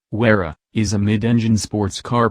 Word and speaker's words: Huayra: The Pagani Huayra, Italian pronunciation, Huayra, is a mid-engine sports car produced by Italian sports car manufacturer Pagani, succeeding the company's previous offering, the Zonda.